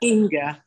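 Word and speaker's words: Inge: Inga. She spells it I-N-G-E, but it's actually pronounced Inga, as if that there's an A at the end.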